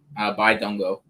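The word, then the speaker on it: Bidunga: Is it just a silent N? Dungo. Yeah, silent N. By Dungo.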